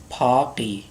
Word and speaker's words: Paris: Paris, here S is not pronounced.